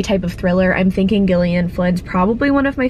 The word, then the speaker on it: Gillian: finished dark places by Gillian Flynn I looked at pronunciation it's Gillian not Gillian so I'm sorry if